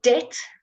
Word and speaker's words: debt: an M sound okay the B is silent okay so debt debt okay and here um that's